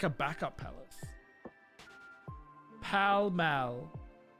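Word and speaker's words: Pall Mall: Buckingham Palace is in Paul Pal Mall. That's in Monopoly. So there still a palace. Is there like a backup palace? Pal Mal. Wait, Mal, not mall.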